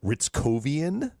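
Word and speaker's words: Hryckowian: It's pronounced Ritzovian. Justin Ritzovian played at Northeastern.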